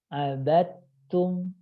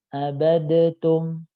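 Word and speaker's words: عبدتم: Ya, dalnya sukun, ta-nya berharokat, maka dalnya harus hilang. Abattum. Nah, secara praktek baca itu lebih mudah membaca abattum dibandingkan abadatum. Ya.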